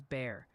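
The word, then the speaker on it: Bexar: Beexer County is Bear.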